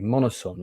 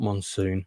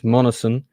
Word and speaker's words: Monoson: just confirmed uh Lawrence um Monsoon monoson sorry monoson you pronounce his name not Monsoon I always called him Lawrence Monsoon it's monison uh he is coming on for an interview